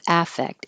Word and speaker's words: affect: And spelled the same with an A, but now the verb, the stress is on the second syllable. And because the A is not stressed, it will sound like I or effect. Affect. You really shouldn't hear much difference.